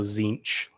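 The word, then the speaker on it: Tzeentch: do you say you can just ignore the te of a Z. So zinch.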